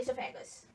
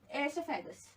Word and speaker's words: esophagus: Now we'll move to food pipe, that is also known as esophagus. Here, O is silent here.